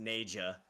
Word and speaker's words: Naga: You know what's funny is it turns out it's actually pronounced Naja.